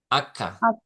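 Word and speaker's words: acca: এই ইটালিয়ান কি হবে জানেন এইযে হবে না না আক্ষা আক্ষা এইচ এর উচ্চারণ সবসময় আক্ষা এইচ কে বলে ইতালিয়ান ভাষায় আক্ষা আক্া ঠিক আছে আক্কা এ আক্কা তাহলে আক্কা উচ্চারণটা কি হবে?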